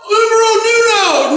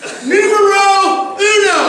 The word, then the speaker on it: numero uno: I'm not Umaro Nuno. Nuno, that's not right. It's not Nuno. It's not. Okay. Numero uno. Is that right? Did I say it right this time?